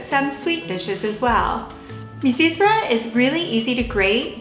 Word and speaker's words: Mizithra: Now you'll notice that I say Mizithra, but it's truly pronounced Mizithra.